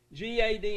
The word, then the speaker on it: Gad: class learned that right g.a.d in hebrew does not rhyme with bad mad or lad okay in hebrew it rhymes with rod sod and nod the hebrews would pronounce